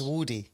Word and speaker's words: Woody: So could you tell us how the name is pronounced and the world how the name is pronounced? It's Woody.